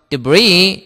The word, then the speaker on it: debris: 그 다음에 debris는 파편이란 말인데 요 발음 주의할 거는 요거 S가 발음 안 돼요. 그래서 debris 이러면 됩니다.